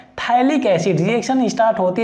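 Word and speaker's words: phthalic: यहाँ पर जो pH होता है वो साइलेंट होता है, थैलिक एसिड।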